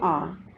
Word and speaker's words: hour: But here in these words H is silent and the word is beginning with the vowel sound R.